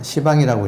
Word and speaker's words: 시방: 시방의 엄은 이제 십방인데 엄은 시방이라고 읽습니다.